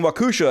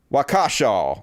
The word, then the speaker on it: Waukesha: The headline is, police refuse to rule out terror in Waukesha attack.